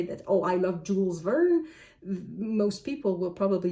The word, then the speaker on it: Jules Verne: Is it really mispronouncing if I say Jules Verne? I know it is, because it's Jules Verne.